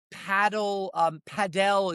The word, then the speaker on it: Padel: There's a new Padel is how they pronounce it, club that's opened up, in the next to the Mink building down on 126.